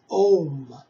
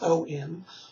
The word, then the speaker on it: Om: One of the mantras that's very known in the Western world that actually comes from India is Om. You know, it's spelled A-U-M or just O-M, Om.